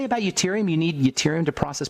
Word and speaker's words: yttrium: I want to say yttrium. Put an E in there.